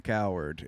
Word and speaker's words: Cowherd: I like how you pronounce his last name, Coward. It's correct. Coward.